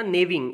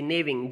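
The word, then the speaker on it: gnawing: तो हमने पढ़ा था नेविंग, NAWING, नेविंग, जी साइलेंट है बेटा इसमें, ठीक है।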